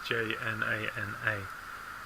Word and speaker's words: Jnana: And to me, very closely related to this is Jnana Yoga, which is Jnana. Jnana Yoga. Doesn't sound like it's spelt.